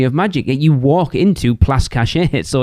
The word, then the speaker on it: Place Cachet: I did hear somebody call Place Cachet Place Catchy. Place Catchy.